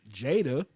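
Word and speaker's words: Judea: Watkins her name is I think she pronounces uh jadia j u d EA okay you know uh my daughter would be j a d EA she pronounces it Jada which is a little strange to me but you know you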